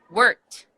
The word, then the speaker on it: worked: T sound perfect work work is gonna be the worked worked so it's not yeah so it's the T sound again okay great great like